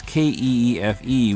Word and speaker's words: Keefe: That's Keefe with a silent E at the end.